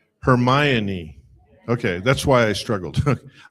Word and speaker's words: Hermione: What is it? Hermione. No. Hermione.